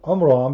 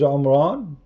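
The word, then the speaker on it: Imran: father of Aaron and instead of saying Oman because he is copying the Jews he do not know how to say it correctly he said Oman here we go this is omran this is amam the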